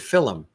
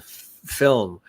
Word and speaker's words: film: and then realize that in certain parts of uh Ireland they add that extra sort of syllable and they say film yeah as opposed to film which is kind of cool so I'll throw people